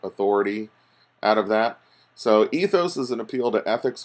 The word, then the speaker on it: ethos: ethos pathos and logos sometimes you hear them pronounced pathos or Lagos or something but I tend to pronounce them all with a long vowel sound at the end ethos pathos and logos and the torkoal appeals